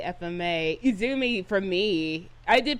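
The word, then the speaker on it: Izumi: Iumi for me. I did pronounce her name right. Izzoomi.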